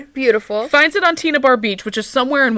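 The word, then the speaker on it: Tena Bar: This beach is called Tina Bar Beach. No, it is not spelled like Tina. It is spelled differently, but it is pronounced Tina. Okay. Beautiful. Finds it on Tina Bar Beach, which is somewhere in Washington.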